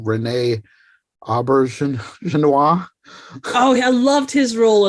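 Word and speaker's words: René Auberjonois: And then I think also I'm gonna butcher the pronunciation, Renee Aubergenois.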